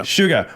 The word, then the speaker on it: Suga: was a DUI case that happened with BTS Suga is that how you say his name sua yeah Suga where he was on a moped pretty much